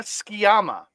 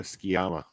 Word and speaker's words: Tsukiyama: So how it's said in English is Waka Skiyama. Waka Skiyama. Okay. What? So the T and the U are silent.